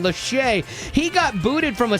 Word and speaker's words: Lachey: Nick Leahy. I always forget how to say his name. Lachey.